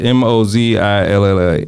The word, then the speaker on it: Mozilla: Twitter, Wayfair, uh Mozilla, uh how do you spell that? Uh uh that word M O Z I L L A I can't Mosilla.